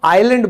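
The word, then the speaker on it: island: कि मैं चुप रहूंगा, जैसे द्वीप, तो इसको हम आइलैंड बोलते हैं, किस वजह से, आई के बाद एस आ गया।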